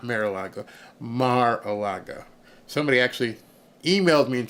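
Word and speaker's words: Mar-a-Lago: got in trouble for saying it's not marilo Maraga somebody actually emailed me and said say it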